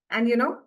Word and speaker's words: est: Oh, EST translates as is. Pronunciation A.